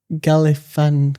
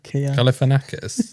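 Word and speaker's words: Galifianakis: Zach Galifanas. Galifanakis.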